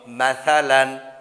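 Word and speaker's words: مثلاً: আলিফ দুই জবর লান, কি হলো বন্ধুরা বলো, মাসালান, মাসালান, মাসালান, মাসালান। এক জবর এক জের এক পেশকে হরকত বলে, হরকতের উচ্চারণ তাড়াতাড়ি পড়তে হয়, দুই জবর দুই জের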